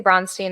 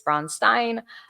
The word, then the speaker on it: Braunstein: Now, I say Bronstein. I know the proper pronunciation is Bronstein. I say it because when I switched to Bronstein, there were some people